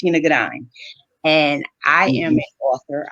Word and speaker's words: Shana Gourdine: business partnership yes and my name is actually pronounced shinagadine and i am an